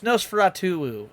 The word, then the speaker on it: Nosferatu: Oh, it's Nosferatu.